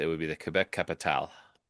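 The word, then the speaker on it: Capitales: The French pronunciation is capital. It's spelled with an E S at the end. Yes. Although you would not pronounce the S. So you would say it would be the Quebec capital.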